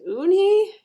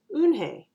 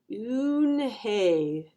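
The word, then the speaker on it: Unhei: turning around it was Joey your name is Unni he asked her with his eyes wide open LuAnn Hey look quickly at mr. Kim and then turned to Joey she nodded slowly yes it's pronounced une Hey and it means grace mr.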